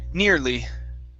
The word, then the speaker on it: nearly: words here nearly near nearly nearly okay watch the r near lee nearly nearly there you go good